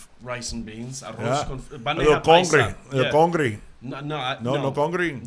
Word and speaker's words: Bandeja: How do you pronounce Bandeja? I forget how it's. What is Bandeja. It? Bandeja. Bandeja.